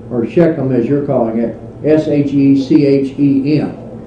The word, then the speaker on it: Shechem: Now, just to show you that we're talking, Shechem, of course, is right here.